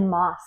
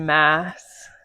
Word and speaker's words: Maas: been saying it wrong I think she says mass and I said Moss I said Mass I was saying Moss Sarah J moss it's Mass I'm pretty sure because I